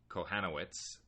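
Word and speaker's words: Kochanowicz: starts with a J Jack kohtz um the C is silent that's how they were talking about it on the broadcast last night he's now 0 and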